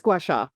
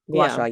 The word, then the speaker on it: gua sha: How do you pronounce it again? It is gouacha. Gouasha. Yeah, that's it.